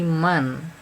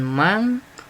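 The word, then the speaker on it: من: ada bacaan di sini Man ada nun sukun Man nah Mudia bertemu dengan alif atau Hamzah ya jadi dibuat sejelas itu man bukan Mang bukan May bukan Mall tapi jadinya Man jelas Man aamana nah disitu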